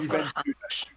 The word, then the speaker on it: Juventude: It's spelt like Juventus, but instead of the S on the end, you've got a D and an E. Oh, Juventude.